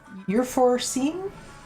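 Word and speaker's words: Euphrosine: And his wife uh wife's name was uh Eureine. Euphorene. Euphrine. It's spelled uh e u p h r o s i n e.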